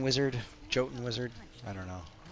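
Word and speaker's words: Jotun: I still say yoten. I think that's never going to change. I don't think I'll ever stop produce pronouncing it that way. Um I don't know why in Guild Wars I decided on Jay the hard Joten sound, but we did.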